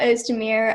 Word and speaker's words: Ozdemir: virtual showcase and I'm here with host a mirror am i pronouncing it right yeah okay so tell us a little something about yourself my name is O's Damir I am a sophomore sat 2022 I go